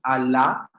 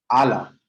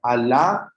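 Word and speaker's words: ἀλλά: Bien, yo simplemente te daría la observación de el acento en Alá, legay. ¿Listo? Creo que mencionaste en Ala. ¿Listo? Entonces, Alá, legay, auto.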